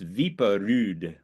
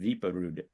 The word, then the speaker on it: Wiprud: Since Ellis Island, it's spelled in the United States Wiprud, but in Norway it's spelled Viperud. So it's Viperud. That's my closest approximation of a Norwegian accent, Viperud.